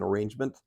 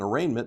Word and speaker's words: arraignment: case is set for arraignment interestingly sometimes they mispronounce it they call it an arrangement it's called an arraignment